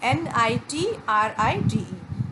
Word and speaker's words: nitride: Okay, that is magnesium nitrite, NITRIDE. First chemical equation जो मैंने